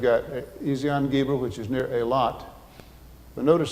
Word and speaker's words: Eilat: don't you say that Elath? But what happens is if the E lengthens and has an A pronunciation, just like in Spanish, when the E lengthens,